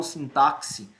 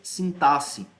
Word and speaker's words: sintaxe: táxi entenda-se sintaxe bem a pronúncia correta dessa palavra é sintaxe mas durante muito tempo eu falei sim táxi e hora por outra pode ser que eu digo assim táxi mas a pronúncia é sintaxe sintaxe sintaxe também são